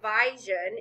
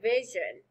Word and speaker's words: vision: to our vowel rule, the correct way to say this word is really with a short I. You wouldn't say vision, you would say vision.